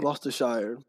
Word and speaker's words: Gloucestershire: Gloucestershire.